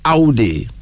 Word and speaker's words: Audi: ai that's another one AI a UD d i pronounced Audi it is a hust